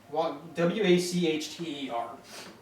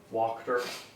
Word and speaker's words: Wachter: Lady Wachter, W-A-C-H-T-E-R. Slowly again. It's German. and W-A-C-H-T-E-R. Walked her.